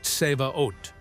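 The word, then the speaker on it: צבאות: And then there's the original Hebrew word pronounced seaot, often translated as hosts or armies.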